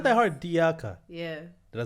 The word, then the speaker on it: Diakha: Diakha. It's not that hard. 3 syllables. Right, it's not that hard. Diakha.